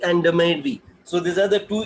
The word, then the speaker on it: DMADV: So it's like the make, Demek and Demedvi. So these are the two, the way they pronounce it basically.